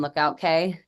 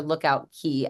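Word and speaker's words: Lookout Cay: Cast Away K and Lookout K just like anything down in the keys that c a y is pronounced key so you're going when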